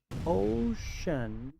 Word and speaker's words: ocean: Muchos pronuncian esta palabra ocean, pero aquí la c se pronuncia como sh ocean.